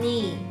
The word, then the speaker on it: knee: follows the letter K, so we don't have to pronounce the letter K when saying these words. Okay? Now, let's practice saying these words together in sentences so you can feel more comfortable not pronouncing the K.